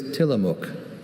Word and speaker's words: Tillamook: Your word is Tillamook.